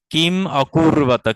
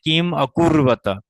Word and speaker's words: কিম অকুর্বত: কিম অকুর্বত, কিম, এটা যে কিম অকুর্বত, কিম অকুর্বত, যখন আপনি অকুর্বত আলাদা করে উচ্চারণ করবেন তখন কিন্তু ময়ের পরে হর্ষ চিহ্ন